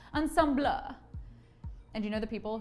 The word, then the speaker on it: ensemble: it's so classy that you're supposed to pronounce it the french way ensemble and you know the